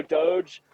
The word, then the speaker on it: DOGE: Yeah, is it Doge, like Yeah, Dogecoin?